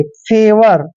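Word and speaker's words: favour: व ओ यू आर एफ का उच्चारण फ करते हैं ए को ए की मात्रा पढ़ते हैं और देखिए यहां पर वी को हमने व पढ़ना है ओ यू यहां पर साइलेंट रहेंगे जब भी वी के बाद ओ यू आता है या आर से पहले ओ यू आता है वहां पर ओ यू साइलेंट हो जाता है आर को हम र पढ़ेंगे फेवर देखिए फेवर फेवर होता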